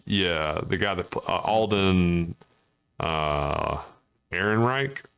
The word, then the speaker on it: Ehrenreich: Yeah, the guy that Alden Ehrenreich, I think is how you pronounce his last name.